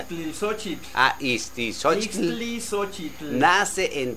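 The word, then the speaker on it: Ixtlilxóchitl: ¿O cómo se pronuncia? Itzilisochitl.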